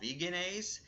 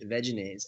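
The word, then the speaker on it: Veganaise: it's this stuff called veganise and it's basically a Chandler actually it's it's ve veise actually oh yes veise ve yeah it's yeah it's veise yeah I've been saying it wrong but basically it's like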